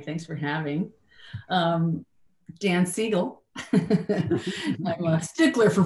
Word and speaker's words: Siegel: okay hey hi thanks for having um Dan seagull I'm a stickler for pronunciation if nothing um I have had the